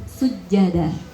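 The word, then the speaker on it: سُجَّدًا: Sujada, sin, jangan sujada, sin, sujada. Jangan jangan kayak shod, ya. Sujada, sin tipis.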